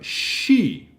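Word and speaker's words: し: we have she she she is the sound sh plus e making a she sound is pronounced like she in sheep take note that this is the first exception Kaa that doesn't follow the patterns that show up everywhere else instead of being C is she iragi write C or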